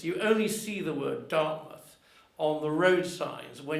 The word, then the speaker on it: Dartmouth: And incidentally, it has the same pronunciation. You pronounce it Dartmouth, as opposed to Dartmouth, which is the more phonetic version.